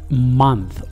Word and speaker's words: month: فصل season شهر month انتبهوا لهذه الكلمة في الأخير تنطق ث ث month وحرف الأو ينطق هنا أ month month أعدها جيد شهر